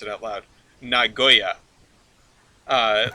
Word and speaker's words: Nagoya: Tokyo and you put you put the emphasis on the first syllable right Nagoya yeah right I've always